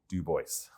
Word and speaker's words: Du Bois: own handwriting shows that it is not pronounced the French way. Despite our Parisian focus today. Very clearly, Dubois.